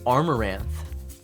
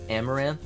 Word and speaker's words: armoranth: his disposal uh the armoranth that is how it's pronounced by the way I thought it was amaranth but no it is armor and armor they made a little pun there I like it